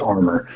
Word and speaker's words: ARMR: We just pronounce it ARMR.